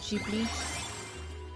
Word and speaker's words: Ghibli: Or Ghibli. That's how you're supposed to pronounce it. It's an Italian word, actually. For a wind of some sort.